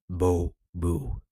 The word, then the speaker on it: Bubu: Pronounced Bubu. It has always amused me that my surname sounds similar to the sound a cow makes.